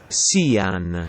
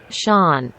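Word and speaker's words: Sián: easiest thing to do when i said google translate to italian it says sian however in english it pronounces it sean and even though i'm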